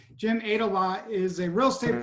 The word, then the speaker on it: Aydelotte: say your last name begin like he ate a lot for lunch I didn't want to say wrong Jim ADA law is a real state